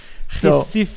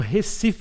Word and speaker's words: Recife: Recife is more like we.